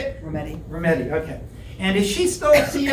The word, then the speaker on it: Rometty: Rometty, okay.